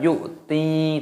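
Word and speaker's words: يؤتي: Alladzi yu'ti, yu'ti, di sini ada hamzah sukun dibaca yu'ti, taknya dipanjangkan, ada ya sukunnya matobi'i, dua ketukan.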